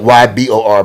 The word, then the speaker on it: Ybor: It's spelled YBOR, but it's Ybor City.